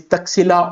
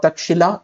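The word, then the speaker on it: Taxila: It is Nalanda University, Tuxila University uh that is Tuxila or Takshila however you will you can pronounce it and then Vikramshella University.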